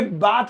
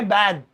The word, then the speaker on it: bathe: अब आता है ये, इसमें एक ई बढ़ गया, इस ई के बढ़ जाने से ये है बाथ, ये बाथ नहीं है, ये है बैद, बैद।